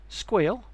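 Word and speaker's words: Sguil: single platform does this via the following tools squeal and that is how it's pronounced this provides a high-level cyber security analysts console for investigating security alerts from of wide variety of sources squeal serves as a starting point in the investigation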